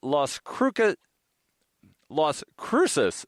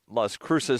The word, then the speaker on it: Las Cruces: Headline from the Las Cruces Sun-Times. Don't know why I wanted to do a hard C there.